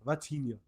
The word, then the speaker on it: Vitinha: gotta say Vitinha. Vitinha is how you say his name. Like it's like the Rafinha.